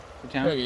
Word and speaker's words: Cherga: So this sausage or salami we actually bought while we were in Churga. Did I say it right? Churga, yeah.